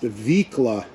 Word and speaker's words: Vicla: Someone told me it's pronounced Vicla, and I appreciate all of the comments.